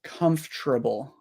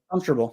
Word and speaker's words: comfortable: sorry so I would say it like this comfortable crazy comfortable comfortable comfortable um it's basically the same as the